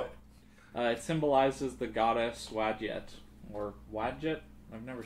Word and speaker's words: Wadjet: Oh, the goddess Widget. Wadjet, yeah, I've Wadjet. seen that. I don't Wadjet. remember where, but I've seen that name. Wadjet. That's how they say it in the Wadjet.